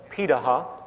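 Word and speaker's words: Pirahã: We know this today because of anthropological research done on remaining hunter-gatherer societies around the world, such as the Piraha, which is how it's pronounced, out of Brazil.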